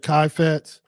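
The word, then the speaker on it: חפץ: You might pronounce it kafetz. Some people pronounce it kaifetz.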